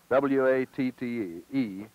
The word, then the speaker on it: Watte: It's spelled W-A-T-T-E, and it's actually Watte. Is that the way yes. it was pronounced yes.